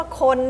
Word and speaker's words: คน: ลูก ว่า ยัง ไง คำ ว่า คน เนี่ย มัน ออก เสียง สระ อะไร นะ ฮะ ครู ก็ มี นะ ค โอะ โคะ ใช่ มั้ย ฮะ โคะ น ปุ๊บ เห็น ปั๊บ เลย ว่า สระโอะ นี่ หาย ตัว ไป มัน มี แต่ เสียง